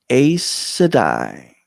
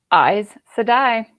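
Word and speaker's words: Aes Sedai: i always thought too well i would say a sedai and then i heard it and it is eyes to die eyes so it's very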